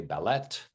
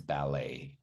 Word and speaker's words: ballet: Remember, it's the T is silent, but nobody made the mistake, but many people say ballet, but it's ballet. Okay, the French way.